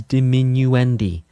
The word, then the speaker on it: diminuendi: It is technically correct to pronounce multiples of crescendo as crescendi and multiples of diminuendo as diminuendi. This is because in Italian words that are plural usually end with an i like spaetto to spaghetti.